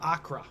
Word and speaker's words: Acre: gonna talk about the siege of akra which which might be kind of yeah that's their pronunciation it's just spelled acre uh it was in